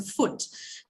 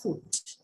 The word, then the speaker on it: foot: vowel so foot now look at the spelling if you go by the spelling people would have attended his tendency to say food it's not food what is it it has a short vowel which should be